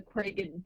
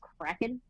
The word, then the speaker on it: kraken: days after i'm gonna release the craig is what he calls it but it's pronounced kraken to the king like